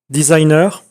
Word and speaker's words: designer: Donc, le métier de Céline Baudin, bon, on va mettre Céline, ça ira plus vite, est designer. Vous remarquez qu'ici, on prononce comme en anglais, mais avec l'accent français, non?